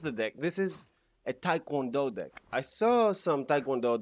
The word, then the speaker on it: Taekwondo: So, Taekwondo, if you wanted pronunciation.